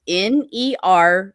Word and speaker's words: nervines: of the big groups is called nerve Vines that's spelled n-e-r-v-i-n-e-s nervines and they are a essentially a group